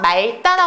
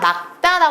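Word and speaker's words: 맑다: 하나는 탈락한다고 했었잖아요 그래서 이거 말따라 하면 안 됩니다 막다 발음하는 것이 맞아요 근데 예외가 있는데요 뒤에 모음이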